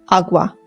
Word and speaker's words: agua: Please don't say it that way if you're trying to speak Spanish. It's agua. Agua.